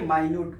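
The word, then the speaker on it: minute: Answer लिखो, अ sponge has माइन्यूट holes, माइन्यूट मतलब छोटे छोटे, देखो है मिनट की स्पेलिंग, लेकिन इसको क्या पढ़ेंगे, माइन्यूट पढ़ेंगे, क्या है, माइन्यूट होल्स।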